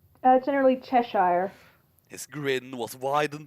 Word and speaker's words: Cheshire: I don't know actually how to pronounce that. Did I get it right? Generally Cheshire.